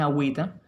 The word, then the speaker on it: agüita: Pero ¿qué pasó en agüita? La vocal tónica sigue siendo la A. La agüita. No. El acento se traslada para la segunda sílaba. Cae en wi. Agüita.